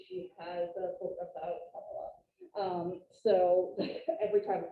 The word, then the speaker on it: Kamala: I was saying it, I can't even say it, Kamala.